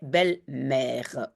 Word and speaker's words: belle-mère: un petit tiret et un accent grave sur le E de e parce que c'est on prononce e belleemère ok on continue celle-ci